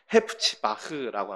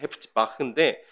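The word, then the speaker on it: חֶפְצִי־בָהּ: 역시 헵시바는 원어 발음이 제가 발음이 썩 시원치 않긴 하지만 헤프치바흐라고 합니다. 헤프치바흐인데 헤프치는 이 어떤 간절한 염원 또 기쁨을 이야기하는 것이고 바흐는 그녀에게 전치사를 붙여서 그녀에게라는 뜻입니다.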